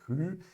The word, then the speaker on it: rue: Atenção, muita atenção com a pronúncia do U, beleza? Não é rue, é rue, porque se você pronunciar rue, vai ficar roda, beleza?